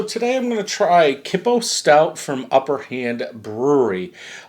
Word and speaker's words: Kippo: So today I'm going to try Kippo Stout from Upper Hand Brewery. That's how you pronounce it.